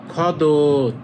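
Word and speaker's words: 겉옷: তখন এই যে থিউতের উচ্চারণ হবে অনেকটা দ্বিগুতের মত। তাহলে এটা হবে খদত।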